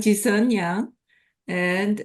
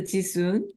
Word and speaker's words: Jisun: share together uh I'm JIS and sometimes I also pronounced as a jisun but uh the right Korean pronunciation is a jisan which is very similar to Jason so just my small